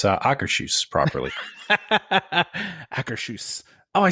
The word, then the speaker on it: Akershus: And prime example, if there wasn't the representatives working in Norway, you wouldn't be able to find out how to pronounce Akershus properly. Akershus.